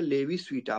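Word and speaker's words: Levi-Civita: लेवी स्वीटा पढ़ लिएगा इसको, एस आई नहीं पढ़ेंगे, तो क्या पढ़ेंगे, लेवी स्वीटा। मैं हिंदी में लिख देता हूँ, लेवी, लेवी स्ट्रास वाला वही लेवी है। तो लेवी स्वीटा, आई नहीं होता है, आई को साइलेंट रखते हैं।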